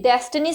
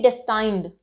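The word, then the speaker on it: destined: से बना है ये, तो इसलिए हम इसको डेस्टिन रीड आउट करेंगे, न कि डेस्टाइंड। मैंने बहुत सारे लोगों को देखा वो उसको डेस्टाइंड प्रोनाउंस करते हैं, डेस्टाइंड नहीं है, इट इज डेस्टन, राइट, डेस्टन।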